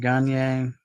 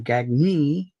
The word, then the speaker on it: Gagne: Greg Gier, Gagy, whatever. Sorry, I keep saying it wrong. Gagne is 56.